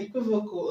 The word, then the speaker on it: equivocal: The stress is going to be on the third level from the end, okay?